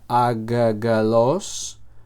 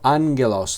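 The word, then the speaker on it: ἄγγελος: Que es la palabra ángel en griego, ángelos y no se pronuncia agalos, sino ángelos. La primera gama se pronuncia como si fuera una n, ¿vale? Y la siguiente como la gama, el el sonido de de una g, ¿vale?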